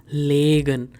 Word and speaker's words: legen: So understand the pronunciation. It's liegen and it's legen. Legen means to lay something.